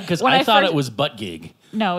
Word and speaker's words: Buttigieg: Because I thought it was Buttigieg. No, it's Buttigieg. Is it? Yes. I like Buttigieg better. Edge. But, okay. Buttigieg, yeah. I should listen to people talk sometimes instead of just reading. Beto Buttigieg.